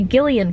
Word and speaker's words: Gillian: finished dark places by Gillian Flynn I looked at pronunciation it's Gillian not Gillian so I'm sorry if